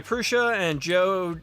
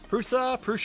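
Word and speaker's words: Průša: Prusa, I don't know how you're supposed to pronounce that. I always say it with a sh, Prusa.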